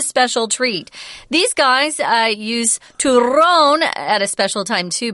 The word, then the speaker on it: turrón: I'm going to say turrón, if that's okay. Sounds good to me. You don't have to roll your R's, but if you can, go for it because it's fun.